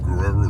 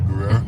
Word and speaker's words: Guerrero: But it's a really heavy R, so Spanish R's. You got to roll your R's.